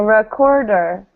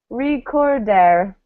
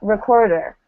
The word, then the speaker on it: recorder: Because the stress comes in the middle. Core. So recorder. And so this is something that people have, you know, so what I hear a lot is recorder, right? Really pronouncing the E's. And this is something that can make your accent sound a lot stronger. Saying recorder instead of recorder, right? So really try to emphasize those neutral vowels.